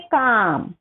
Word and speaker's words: calm: Stay काम, stay काम, काम म्हणजे काय, शांत राहा. याचा उच्चार काय आहे बघा, CALM हे स्पेलिंग आहे, पण त्याचा उच्चार कसा होतो, स्टे काम.